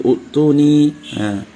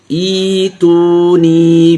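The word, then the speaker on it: ائْتُونِي: Banyak memulai utuni, ituni, ya seperti itu. Tapi di sini bacanya ada dikenal dengan ibdal hamzah. Ya. Jadi ada penggantian hamzah itu menjadi ya, diganti. Jadi bacanya ituni bi kitabim min qabli hadza aw atharatin min ilm.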